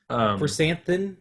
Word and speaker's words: Krrsantan: Chrysanthemum. It's spelled Krrsantan.